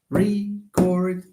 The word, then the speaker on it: record: I would like to record to. Fine. So you have re and then chord.